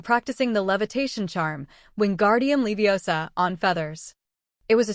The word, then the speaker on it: Leviosa: It's Levi OSA. Hermione corrected from the next seat. Not Leiosa. Ron's ears went red.